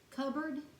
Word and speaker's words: cupboard: many of the resources within your own spiritual cupboard i believe that's actually pronounced uh cupboard but it's spelled cut boarding so that's how